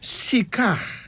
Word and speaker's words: Sika: Here's another name, Sika. Sika. Now, Sika is spelled Sika, but pronounced as Sika.